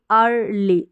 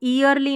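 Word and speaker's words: early: safely safely अगली अगली अर्ली अर्ली इसको यरली नहीं पढ़ेंगे अर्ली ई ए आर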